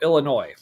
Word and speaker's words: Illinois: We go Illinois.